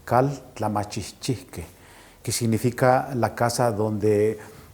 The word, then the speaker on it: Kaltlamahchihchihke: casa de la cultura viene del náhuatl y es la pronunciación es caldo la machi que que significa la casa